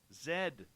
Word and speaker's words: Z: Yes, that's the way it's pronounced, Human Carl. Zed. Hey, the Ronald Penton. The Ronald Penton, everyone. Raul, it's Zed.